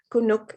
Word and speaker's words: Kunuk: who is my homie he calls me cool nook just dropped the l kunuk is my name um i'm named after